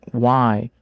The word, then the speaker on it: why: Em why, o H é mudo.